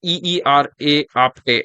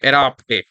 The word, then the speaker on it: Era Apte: Uh, it's pronounced as EERA Apte, Era Apte.